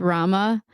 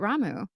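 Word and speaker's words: Ramuh: a lot of people pronounce ramu you thought it was pronounced Rama I thought it was Rama too but then hearing it in the the game I'm pretty sure they say it ramu Community yes we would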